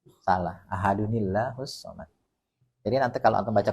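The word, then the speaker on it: أَحَدٌ ٱللَّهُ ٱلصَّمَدُ: Nah, dikasih tahu non kecil. Itu maksudnya kalau mau disambung bacanya begitu, ada nil. Ahadunillahu somad. Gitu. Jangan ahadullahu somad.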